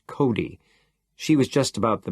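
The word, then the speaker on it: Cote: On the other hand, there was Mrs. Cody, pronounced Cody.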